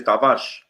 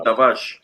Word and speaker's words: Tavares: Yeah, because how you pronounce it in Portuguese is Tavares. Oh, is it? See. Yeah. Oh, okay. Also, I didn't know that. Yeah, Nun Tavares.